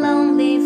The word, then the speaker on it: lonely: Lonely, âm O nha.